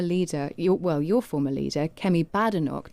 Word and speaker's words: Badenoch: You repeatedly referred in your press conference to Kemi Badenoch.